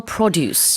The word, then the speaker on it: produce: Now, what about seasonal produce? Yeah. So, seasonal produce or produce, is that what you said? So, um the the pronunciation um would be in the front, right?